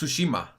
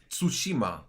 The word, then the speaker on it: Tsushima: is that he pronounces Tsushima Tsushima Tsushima Sookie come on the CVT is like half silent Tsushima Tsushima soo she